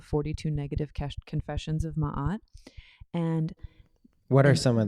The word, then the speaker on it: Ma'at: Dead and what this feather the feather of Ma'at sand pronounce it as Maat right it basically is